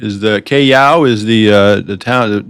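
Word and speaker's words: Callao: Again, that pronounced Cayao is the Cayao is the uh the town the port we'll be into.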